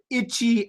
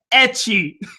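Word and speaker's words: ecchi: So he said itchy anime. I think what he was trying to say was etchy. He was trying to say etchy, but he didn't know how to spell it. So he tried to pronounce it itchy.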